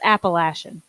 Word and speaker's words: Appalachian: fourteen time she's also correcting your pronunciation it's Appalachian I thought she was